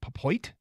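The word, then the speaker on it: Pepiot: Dodgers trade proposal Ryan p e p iot papoit I think that's how it's pronounced Ryan papoit is their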